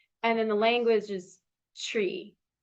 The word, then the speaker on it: Twi: And then the language is tree. It's spelled TWI, but then it's like sounds like tree.